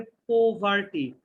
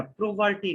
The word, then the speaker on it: poverty: আচ্ছা, হ্যাঁ, বানানটা কিন্তু হবে, উচ্চারণটা হবে পোভার্টি। পোভার্টি মানে প্রো হবে না, প্রোভার্টি না।